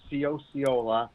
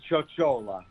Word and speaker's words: Ciociola: your last name well two ways of pronouncing it one of the anglicized way is ciosiola oh like coca-cola okay and the other way would be chochola in the italians okay so i i